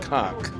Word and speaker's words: conch: it conch?</b> <b>I think it's supposed</b> <b>to be pronounced cock.</b> <b>A conch is the, like</b> <b>a snail, a huge snail.</b> <b>Yeah, that's what I'm saying.</b> <b>What is it, a conch?</b> <b>Conch.</b> <b>It is a conch.